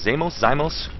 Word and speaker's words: xeimos: Is it, I think I pronounced her name 9 different times. Xeimos?